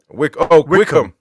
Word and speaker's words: Wycombe: How do you say it? Wickham or what? Wickham.